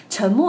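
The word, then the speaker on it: 沉默: Chen Mo, you know we have a word in Chinese which means silence has the same pronouncation.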